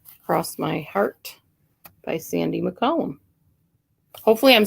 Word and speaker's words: McCollum: my heart by sandy mccollum hopefully i'm saying your name right by the way you are you are saying it correctly that's the column like a column uh-huh okay good i